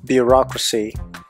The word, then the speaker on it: bureaucracy: More examples: bureaucracy, second syllable, democracy, second syllable.